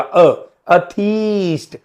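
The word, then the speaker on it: atheist: थ ठीक है थीस्ट और जो ना विश्वास करता हो तो आगे ए लग जाएगा अ थीस्ट ए को अ प्रोनाउंस करना है ध्यान रखिए प्रोनाउंसिएशन पे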